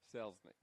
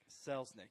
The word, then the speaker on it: Selznick: there the shell um the h is silent actually there is no h sells nick selznick yes she has told